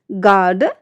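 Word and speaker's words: guard: नियम क्या कहता है, जब जी के बाद और किसी बाउल से पहले यू आता है तो यू जो लेटर है वो हमारा साइलेंट हो जाता है। स्पेलिंग से देखिए, गिटार, गार्ड, गेस्ट, गाइड, इन सारी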